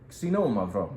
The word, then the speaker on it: Xinomavro: It behaves a little bit like a Nebbiolo from Italy, but this is really Greece's great red grape, Xinomavro, and that's how you say it.